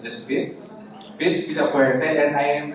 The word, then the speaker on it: Fitz: I try to say my name as often as possible because most people call me Fritz. I think that's a more common name, but I don't have a letter R, so it's just Fitz.